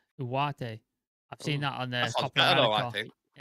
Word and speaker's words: Ugarte: I've heard that Ugarte pronunciation is Uwate. I'm not sure if that's true, but I've heard that Uwate.